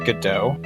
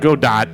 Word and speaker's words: Godot: so wait, it's pronounced Godot. Yeah. Yes. Yeah. It's not Godot.